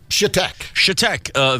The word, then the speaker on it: Chetek: How is this pronounced, Brian? Chetek.